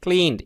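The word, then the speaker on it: clean: ইয়েতে আছে এটা খেয়াল করবেন আমরা বলি ক্লি ক্লিন এটা বাংলা মাসে ক এর মত হবে না ক্ষয়ের কাছাকাছি যাবে ক্লাসরুমস উচ্চারণগুলো ক্লাসরুমস না ক্লাসরুমস আর ক্লিন শ্রেণিকগুলো কি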